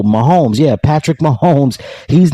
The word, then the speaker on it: Mahomes: about this I think it rhymes with domes Gomes oh Mahomes yeah Patrick Mahomes he's